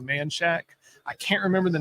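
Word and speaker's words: Manchaca: There's one right by Crockett High School over off it's spelled Manshaka, but off of Manshack.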